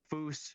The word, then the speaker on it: Foose: And, you know, Foose, moose, it rhymes.